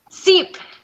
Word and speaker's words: Czep: Is it Czep? Is that how you pronounce it? Or? Seep. Seep is how you pronounce it.